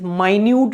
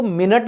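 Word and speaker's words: minute: भाई overly concern with माइन्यूट details माइन्यूट का मतलब देखो इसको मिनट नहीं पढ़ते हैं पहली बात स्पेलिंग सेम होता है स्पेलिंग क्या होता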